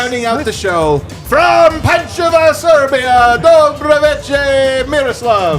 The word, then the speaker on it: Pančevo: Rounding out the show from Pančeva, Serbia, Dobroveče, Miroslav. This is actually the first time in your life you pronounce Pančevo correctly. I always do.